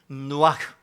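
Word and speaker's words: נֹחַ: 이 히브리의 원어는요 누아흐입니다. 그러니까 뭔 차이예요? 앞에 R이 들어가느냐 N이 들어가느냐 요 하나 차이인데 똑같은 그 발음이죠. 혹은 누아흐 R, N 요 차이입니다.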